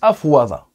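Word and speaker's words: أفاض: Afada, à la base, on le prononce afwada.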